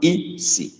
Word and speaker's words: isi: It's not isi. It's not joined together. It's not one word. Isi. E means you. So you is actually G-I. But most times in middle of sentences, for smooth pronunciation, the G goes off.